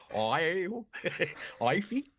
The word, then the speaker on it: Aoife: I'm being told off for mispronouncing the name Aoife once. What the fuck is that? Ivy?